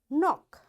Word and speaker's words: knock: K is silent when it comes before N. So wherever in a word you see K is there and right after K the next letter is N, you will not pronounce this K.